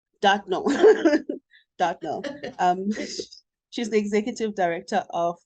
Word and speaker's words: Dartnell: Did I pronounce that correctly? Dartnell. Dartnall. Dartnell.